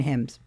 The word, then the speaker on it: hymns: Well, I'm just going to tell you there's an N in there somewhere in hymns.